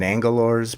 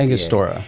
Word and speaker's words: Angostura: down, melted it, dropped in my, I can't pronounce it. Is it Angalora's bitter or whatever it is? Starts with Angostura.